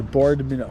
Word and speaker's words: Boardman: I do that for like every hour and a half until I get to Boardman, Oregon, spelled B O A R D M A N.